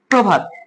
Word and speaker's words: প্রভাত: পাঁচ নাম্বার নিয়মটা হচ্ছে শব্দের প্রথমে যদি অ যুক্ত রফালা থাকে। অ যুক্ত রফালা অর্থাৎ প এর সাথে একটা অ আছে। আর কি যুক্ত আছে? রফ যুক্ত আছে তাহলে এটা যদি থাকে তাহলে আদ্য অধ উচ্চারণটা কি হবে অকারান্ত হবে তাহলে আমরা এখানে কি লিখতে পারি ওকার প্রভাত এখানে তের তলায়